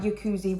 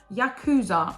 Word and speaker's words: Yakuza: is a psychological drama yakuzi romance and Yakuza I meant not yakuzi so sorry if I'm